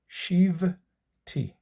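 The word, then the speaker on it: שבתי: Shivti, shivti, be vet Adonai. Two syllables, shivti, shivti, be vet Adonai.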